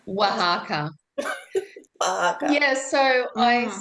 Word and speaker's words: Oaxaca: people came and just I crossed paths with, and they mentioned Oaxaca.